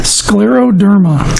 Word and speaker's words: scleroderma: an autoimmune disease crews and how do you pronounce it the scleroderma okay it's Latin for hard skin s Cler